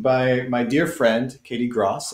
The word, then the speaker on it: Gross: my dear friend katie gross as in cross which is the right way to pronounce it just in case you're